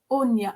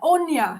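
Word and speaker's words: Áine: like to start with anya onya thank you that's i i knew it wasn't pronounced as it's spelt a-i-n-e or fantastic um so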